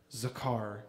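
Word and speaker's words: זכר: but translated into hebrew that word actually is pronounced zakar which means act upon act upon my troubles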